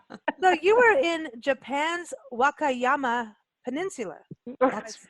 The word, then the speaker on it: Wakayama: So you were in Japan's Wakayama Peninsula.